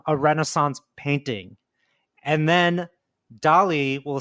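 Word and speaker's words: DALL-E: uh is a thing called Dolly kind of like Salvador Dolly but spelled like Wall-E with a d so it's Dolly so d a l l- e Dolly right okay and this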